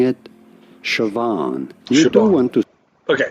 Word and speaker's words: Siobhan: How do you go about pronouncing it? Siobhan. You do want to... Okay, Siobhan. That's what a YouTube video is telling me. It's Siobhan.